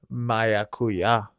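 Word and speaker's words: maracuyá: Maracuya. Maracuya. Maracuya. Uya. I'm not joking. That's how you say it.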